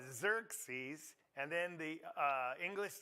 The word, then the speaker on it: Xerxes: do you say it Xerxes xerx it's not ex you know Xerxes and then the uh